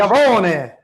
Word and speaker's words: Iovine: Wait, are we saying his name correctly, Jimmy Iovine? Like, what's the correct Italian pronunciation? Yavone. Giacomo Yavone.